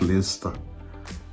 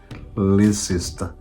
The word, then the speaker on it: Leicester: But you have to learn to pronounce Leicester, not Leicester. But that is how it is written. It is written Leicester, but it's pronounced Leicester.